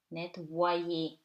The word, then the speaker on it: nettoyer: so it gives you nettoyer. Okay, why? Because you have to link, right? Wa with e, right? So it becomes ye, nettoyer.